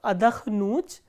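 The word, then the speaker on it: отдохну: written the conjugation of adakhnut, and rest of the verbs will have the similar conjugations. So, how do we conjugate adakhnut? Ya adakhnu, and the stress is on u, which is the ending.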